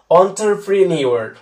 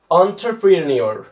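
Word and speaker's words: entrepreneur: এই 8 নম্বর ওয়ার্ডটা কিন্তু খুবই কোয়ালিটি একটা ওয়ার্ড, এটা কিন্তু উচ্চারণটা তোমরা অনেকটা ভুল করো, এর উচ্চারণটা হবে অন্টারপ্রিনিওর, অন্টারপ্রিনিওর, আর এটার সাথে শিপ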